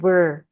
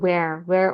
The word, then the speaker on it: were: Ini tuh kalau aku perhatikan harusnya pakai were. Tapi dilafalkannya sama Kak Iwan sebagai where untuk yang di mana.